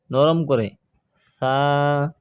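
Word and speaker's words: ث: সা বলা যাবে না, সা বলা যাবে না, বলতে হবে নরম করে সা। জিহ্বার আগা, দাঁতের আগা, জিহ্বার আগা উপরে দুই দাঁতের আগার সঙ্গে লাগিয়ে সা।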